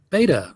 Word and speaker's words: Beta: Beta rhymes with never mind.